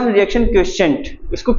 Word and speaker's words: quotient: निकालनी होगी तो उसको बोलते हैं हम रिएक्शन क्वोशिएंट, इसको Q से डिफाइन करते हैं, Q, ठीक है।